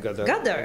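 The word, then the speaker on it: Ghadar: Gadar? Gadar. Gadar, exactly.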